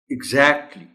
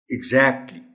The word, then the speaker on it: exactly: The first word is exactly. इसमें catch honourable teacher सिर्फ ये है कि जो एग्जैक्ट में ए की साउंड है इसको थोड़ा सा लंबा करना है और ए साउंड है एग्जैक्टली.